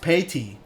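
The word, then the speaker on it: Payne: It's It's pronounced payy. Payy.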